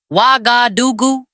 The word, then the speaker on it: Ouagadougou: That is how long before the attack that the chiefs of army staff of Burkina Faso, Mali, and Niger met in Ouagadougou, pronounced Wa-ga-du-gu, April 16th and 17th, 2026.